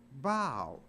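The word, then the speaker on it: bough: but it's not pronounced buff it's pronounced bow so even though a and there the o u is pronounced like a long o o iof from the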